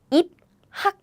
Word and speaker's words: 입학: If you read syllable by syllable, it will be 입학, 입학. But Korean people don't pronounce it this way because da-da-da-da-dam. This p and this p, and this here, this sound, right? So all together it becomes p. So the pronunciation becomes 입학 like this.